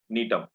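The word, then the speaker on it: Gnetum: G is silent. Nitum.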